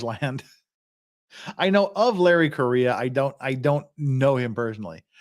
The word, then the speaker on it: Correa: Larry Correa, pronounced like Korea, a Utah.